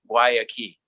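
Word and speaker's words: Guayaki: how do you pronounce waiakee and say well imagine a door and a key why a key i believe that goyaki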